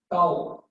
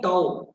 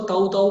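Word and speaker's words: tau: मैं हिंदी में लिखकर बता रहा हूँ, कुछ कुछ बच्चे इसका प्रोनाउंसिएशन ठीक नहीं कर पाते हैं। ठीक है, तो मैं हिंदी में लिखकर बता रहा हूँ, इसको बोलते हैं टाउ। कुछ बच्चे इसको ताऊ ताऊ बोलने लगते हैं, ठीक है ना, वो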